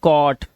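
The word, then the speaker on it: caught: जी एचटी है इसमें जी एच को हमेशा हम क्या रखते हैं साइलेंट रखते हैं तो हम क्या पढ़ते हैं सिर्फ टी को पढ़ते हैं तो ये हो गया कॉट ये कॉज नॉट नॉट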